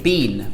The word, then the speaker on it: been: in England we say been we pronounced be like b een like the same as we pronounce seen or spleen we would pronounce been